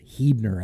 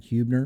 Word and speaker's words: Huebner: up with alex huebner it is hebner actually so we got to correct that we've been pronouncing that huebner but it is uh